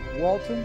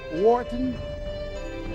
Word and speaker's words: Wharton: He has an MBA from Walton. Am I pronouncing it? Wharton? Yes.